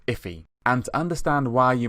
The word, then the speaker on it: IIFE: for immediately invoked function expression and it's actually pronounced iffy and to understand why you might use it